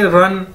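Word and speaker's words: 人: हमारे पास एक Chinese word, इसको कैसे बोलेंगे, रन, जिस तरह हम कहते हैं दौड़ लगाना, रन, तो अगर इन दोनों इकट्ठा कर दिया जाए यानी ती रन, ती रन, डी आई यानी ती, आर ई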